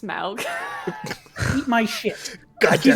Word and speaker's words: Smaug: It's pronounced Smaug.